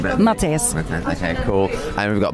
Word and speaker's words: Mattis: Yeah, Mattis. I'll take you say your name better. Mattis.